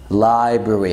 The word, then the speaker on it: library: تالت كلمة library library library ما تنطقش الار تاني اللي في النص، انت الار واي في الاخر.